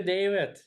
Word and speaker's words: Dawid: it's I think I'm I come originally from Poland and never figure out the V so it's a w it's the same as David so oh okay I'm